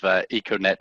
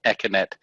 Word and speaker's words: Econet: comment really talking about the pronunciation of econet and echonet and you know how interchangeable were they and which one would you consider to be the proper one i notice you using them kind of interchangeably just like i do um yeah i'd probably prefer econnect but yeah they're interchangeable there's i wouldn't say there was a correct and certainly not a wrong pronunciation it's not like these